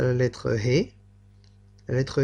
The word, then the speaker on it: ה: Et la prononciation de cette lettre, c'est He.